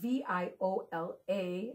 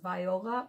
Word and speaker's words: viola: instrument is going to be the viola and it's spelled v-i-o-l-a which it looks like it should be pronounced viola but they do pronounce it viola it is